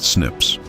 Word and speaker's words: SNPs: It uses a different type of genetic marker called single nucleotide polymorphisms or SNPs, pronounced "snips".